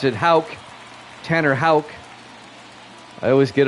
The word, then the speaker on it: Houck: The PA announcer pronounced it Houck.